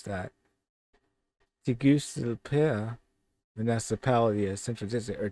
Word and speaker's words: Tegucigalpa: Let's see how we pronounce that. Tegucigalpa, municipality of Central District, or Tegucigalpa.